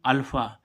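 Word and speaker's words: alpha: होती है तो देखो इसमें भी एफ का उच्चारण काहे से हो रहा है पीएच से अब देखें अल्फा ए एल पी एच अल्फा अल्फा means होता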